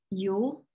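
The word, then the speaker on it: Elul: It's Yule. It's spelled E-L-U-L, and I probably just said that wrong.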